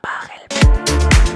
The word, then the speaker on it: Pachelbel: Así que nada, espero que hayáis disfrutado del vídeo y la próxima vez que escuchéis el canon de Pachelbel, recordad, se pronuncia Pachelbel.